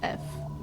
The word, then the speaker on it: Eph: EPH. It's pronounced F.